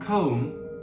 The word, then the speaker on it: comb: Another common one is the B after M like in comb and lamb.